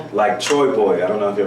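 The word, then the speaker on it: TroyBoi: Troy Boy. Okay, I'm looking for Troy Boy.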